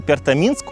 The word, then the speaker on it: Пертоминск: В названии Пертами Минск ударение падает на Минск.